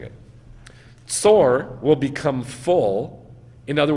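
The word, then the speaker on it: צור: Tyre, now in Tyre, the way you say that, you know how to say it in Hebrew? Like Bein HaMetzarim, like birth pangs. Tsor.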